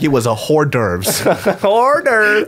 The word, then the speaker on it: hors d'oeuvres: Hors d'oeuvres. Oh, he said that with the correct pronunciation.